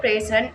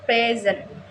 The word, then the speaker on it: present: on the first syllable present. In the word present as a verb, meaning to show or give, the stress is on the second syllable present.